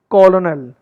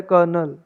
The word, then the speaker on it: colonel: The reason it's a strange word for foreigners, it's that it lack an R. Despite using that sound when spoken, the second O is silent, which adds to the confusion.